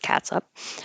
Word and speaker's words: catsup: We had a couple of words because the spelling of ketchup can be catsup looking, and you can pronounce it catsup, but most everybody pronounces it the same way, ketchup or catchup.